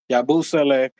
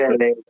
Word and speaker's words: Yabusele: You're gonna have Josh at the 3, Yabusele, and then you're gonna have. It's crazy because do you need a truth? Yabusele.